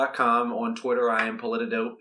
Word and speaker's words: Politidope: is that right yes Politico calm on Twitter I am Politico it's it's spelled just like it sounds pol I tid ope